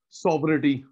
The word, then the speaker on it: sovereignty: शब्द होता है consumer सॉवरेनिटी, consumer सॉवरेनिटी, SOVE, GNTY, जी साइलेंट है, SOVEREIGNTY, जी साइलेंट है, सारा सॉवरिटी होता है पावर।